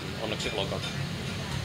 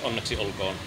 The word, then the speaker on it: Onneksi olkoon: Onneksi olkoon. I'm speaking in my native dialect again. But okay. Onneksi olkoon. Onneksi olkoon.